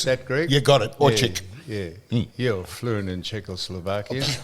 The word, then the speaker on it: Orcsik: The C-S is ch sound, and it's because it's Hungarian. Orcsik.